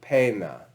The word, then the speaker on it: poena: And oi becomes e, like pena. poena, pena.